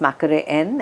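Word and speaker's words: Mackery End: he talks very emotionally about Bridget and about Macquarie End, and he says it's Mackerel End, that's how it's spelled, but it's pronounced Macquarie End.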